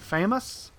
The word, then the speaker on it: FAMAS: be the good old Famas or some people like to call it the famous it's you know you can pronounce it several different ways but uh this particular